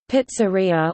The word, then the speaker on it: pizzeria: A restaurant or takeout where pizzas are made and sold as main food is called a pizzeria, Italian pronunciation, pizzeria, or simply pizza parlor in English.